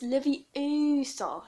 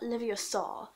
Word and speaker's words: Leviosa: And besides, you're saying it wrong. It's Leviosa, not Leviosa.